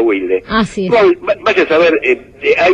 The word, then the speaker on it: Wilde: de la zona Sur bueno se dice Wilde digamos al británico se le dice Oscar Wild al argentino se le dice Eduardo Wilde vaya a sa ver